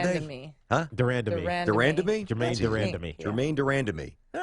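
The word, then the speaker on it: de Randamie: I think it's Durandame? Durandame.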